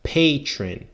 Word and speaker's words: patron: that for me yeah we pronounce as patron so pay patron patron saint's patron like pay like to pay you money right pay